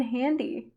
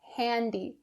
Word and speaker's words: handy: to pronounce it properly in north american english that a sound has to be very clear handy handy don't say handy